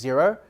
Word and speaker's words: Xero: Well, I mean, one of the ones that I think are the greats is Xero, spelled with an X.